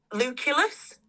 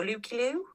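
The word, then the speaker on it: Lukullus: And then they've got, and I might be saying this wrong, luculus, but apparently it's Belgian and you're not supposed to pronounce the S. So, Lucilu.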